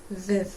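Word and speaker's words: við: But the word for we rhymes with thith. Viv.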